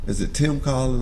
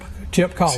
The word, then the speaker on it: Tip Collin: The Tim Collin? I'll make sure I say it right. Awards, the Tim Collin Award. Oh, the Tip Collin. Tip Collin.